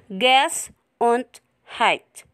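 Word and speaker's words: Gesundheit: there is a funny looking word which is pronounced gas and height it is the german word that wishes someone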